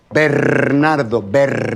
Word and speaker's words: Bernardo: Bernardo, if you can't roll your R's, please, don't embarrass yourself and just call me Mr.